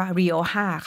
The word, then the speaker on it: Rioja: JA ตัว เจ ใน ภาษา สเปน จะ ไม่ ออก เป็น ตัว เจน นะ คะ จะ ออก เป็น ตัว H นั่น เอง ก็ เลย อ่าน ว่า วีดีโอ 5 ค่ะ แล้ว ก็ อัปสร